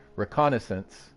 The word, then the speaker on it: reconnaissance: say the damn word reconnaissance right that's how y'all say it right after personal reconnaissance of central Iraq and that's French is that French uh kareim sound like Renaissance after a personal reconnaissance